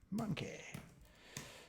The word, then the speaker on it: monkeh: user account named monkey because that's how you pronounce it monkey so expects that's not actually going to return